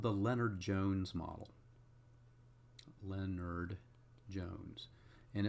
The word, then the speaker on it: Lennard-Jones: Lennard-Jones. And it's not Leonard as spelled like a first name, it's L-E-N-N-A-R-D.